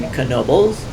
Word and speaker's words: Knoebels: You actually pronounce the k in Knoebel's it has free parking